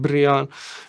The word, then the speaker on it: Brian: That was my name, you know. But we didn't pronounce it like Brian. Everyone said "Bree-uhn".